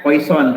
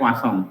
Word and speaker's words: Poisson: Poisson dibacanya Poisson, tulisannya Poisson tapi bacanya Poisson distribution ya.